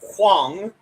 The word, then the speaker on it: Huang: The Mandarin pronunciation would be much closer to Huang.